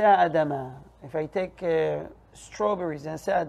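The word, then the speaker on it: אדמה: praise fruit from ground adama okay it is important to make sure to pronounce this syllable and not to omit it carelessly you know what some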